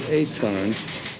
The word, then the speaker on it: Etan: Well, they pronounce it Etan.